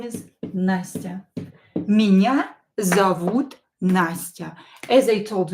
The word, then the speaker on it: меня: Меня зовут Nastya. As I told you before, when O is not stressed, pronounce it as A. Зовут. Зовут. And when E is not stressed, pronounce it as I. Меня.